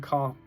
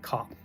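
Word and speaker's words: Copht: And he's called the Grand Cop. I think that's how you say it, the Grand Cop, or the Grand Cope.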